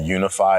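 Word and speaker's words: YOUnify: and I work for organization called unify and it's spelled y-o-u-n-i-f-y and the U obviously is intentional helping people find themselves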